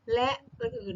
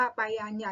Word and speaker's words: ฯลฯ: อ่าน ว่า ระ หรือ และ อื่น นะ คะ อย่า อ่าน ว่า ไป อัน ใหญ่ นะ คะ มา ดู ว่า เวลา ที่ อยู่ อยู่ ใน ประโยค ให้ อ่าน ว่า และ อื่น ๆ นะ คะ แต่ วัน